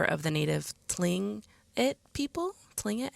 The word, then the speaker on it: Tlingit: Tlingit, I think is how it's pronounced.